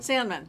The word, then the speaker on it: Sandmann: Sandmann.